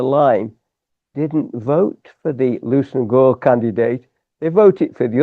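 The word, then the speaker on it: Leveson-Gower: They altered the pronunciation of their surname to Lucen Gore. Lucen Gore.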